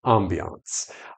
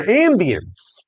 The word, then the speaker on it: ambiance: Kind of, you know, hear that French in it a little bit.